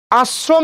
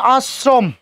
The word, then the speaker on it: আশ্রম: তালবসার সাথে রফলা যুক্ত হয়েছে, সেটা কোথায়, মাঝে। যেহেতু যুক্ত হয়েছে তালবসার উচ্চারণ কি হবে, 2 বার হবে, তাই না? কিন্তু ওই তরল থরিনের র যুক্ত হয়েছে, ওই জন্য তালবসার উচ্চারণ কি করতে হবে, দন্তস্ব, এবং সেই দন্তস্বর উচ্চারণ কয়বার, 2 বার, কারণ মাঝে যুক্ত হওয়ার কারণে।